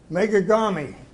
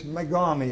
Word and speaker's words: Megami: Megagami. Actually, it's Megami is the correct pronunciation.